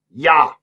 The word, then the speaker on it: Ja: Ja. Ja. J-A. Ja. J's pronounced as Y's.